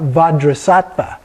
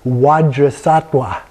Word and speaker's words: Vajrasattva: Today we're talking about vajrasattva, 2 V's, and they will say vajrasattva, 2 W's, in doing that, because they don't normally pronounce the V.